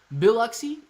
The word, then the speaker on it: Biloxi: on the coast bill biloxi biloxi okay biloxi is how it sounds when you say it great try clay yeah thanks man thanks biloxi biloxi emphasis is on the bill biloxi bill oxy bill oxy